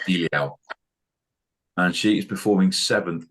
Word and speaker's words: Diljá: Her name is pronounced Diljá, and she is performing 7th immediately before Greece in the second semi-final on the Thursday evening.